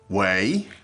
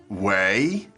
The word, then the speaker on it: 喂: Okay, wei. So that's one for you to practice at home, okay? So say after us, wei, 喂 wei, 喂 wei.